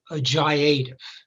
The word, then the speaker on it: JIATF: At the heart of this transformation was the creation of something called a Joint Interagency Task Force, or the acronym is pronounced a JIATF.